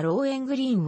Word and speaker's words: ローエングリン: の歌ではローエングリーンをロウ編グリーンのように発音するのが 2 a で